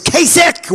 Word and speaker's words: Kasich: Even though it's pronounced I-C-H, it's Kasich with a K, like with a K, okay? Think about K.